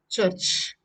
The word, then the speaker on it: church: And another interesting word, church. You say church. First, you should know R is silent and cha and cha.